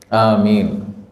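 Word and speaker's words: آمين: takmin alias membaca a amin ya amin ini cara bacanya adalah alifnya dipanjangkan mimnya juga dipanjangkan jadi Amin minimal dua harakat cukup Amin ini kalau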